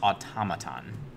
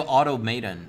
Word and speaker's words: automaton: you say that yeah nobody nobody can pronounce automaton and it drives me nuts no they go Auto maiden or Auto automaton unless